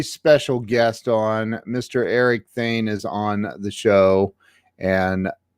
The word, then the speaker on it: Thayne: I didn't hear you pronounce it, but it's Thayne.